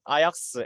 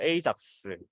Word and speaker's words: AJAX: 정답은 바로 5개입니다. 되게 의외지 않나요? 아약스, 에이작스, 그리고 아작스 이런 것도 다 된다고 합니다.